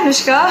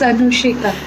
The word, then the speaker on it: Anushika: So without further ado, let's just call my dear friend and an amazing artist, Anushika. Hi Anushka, how are you doing? you spelled my name wrong. Yeah, it's Anushika.